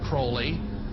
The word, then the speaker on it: Crowley: he likes to be have his name pronounced crowley to rhyme with holy and uh the satanists